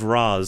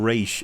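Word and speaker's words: Ra's: this out are wrong it's ray chalgool in possibly the comics and like game interpretations but when you have the characters the comics this is this is the thing shut up in the movies all the characters referred to as raz so it would be wrong to call him race in the movies because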